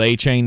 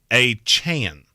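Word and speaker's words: Achane: called a chain anymore he says it is Devon a Chan a Chan which is weird because I specifically remember a voice pronunciation of from Texas A M that it was a chain but okay we'll call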